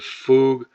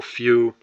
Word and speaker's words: fugue: There are there's dissociative amnesia, dissociative fugue uh or few depending on how you say it and did point blank.